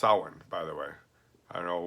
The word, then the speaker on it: Samhain: so first you know will the Celts vessel same-same hain which is actually pronounced Owen by the way I know where they get